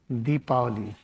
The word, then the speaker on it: Deepavali: Then we are celebrating in India we call it Deepi this is the correct pronunciation. We write Diwali also.